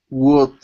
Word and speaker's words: would: with the word would instead of saying good pronouncing a g sound start off with an uh wood there you go there you go good now with that with if if you feel yourself pronouncing a g with other words like what or was okay start off with an u sound and and slide into the rest of the word okay okay so let's